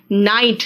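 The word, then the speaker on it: knight: कहा है, देखो नाइफ है बेटा, no, knee, नाइट, नाइट is title, नाइटहुड कोई व्यक्ति को दिया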